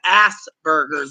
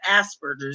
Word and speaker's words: Asperger's: I mean then he claimed he had Ass Burgers remember instead of Asperger's he said Asperger's like a-s-s burgers I mean literally isn't